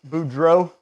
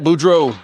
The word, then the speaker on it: Boudreaux: Again, Chris Boudreau. And that's proper pronunciation. Yep, Boudreau. Boudreau, let's go, baby.